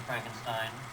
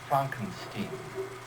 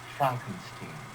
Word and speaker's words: Frankenstein: one question have to Frankenstein that's Franken scheme I think it's working my name is pronounced chomping scheme but orange and the grandson of the famous dr.